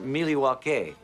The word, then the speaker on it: Milwaukee: an Indian name ESP it is actually it's pronounced miliwaki which is Algonquin for the good land I